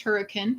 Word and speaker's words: Hurricane: caught lila virgin utah just outside of hurricane pronounced hurricane utah what's up sooner it's good to see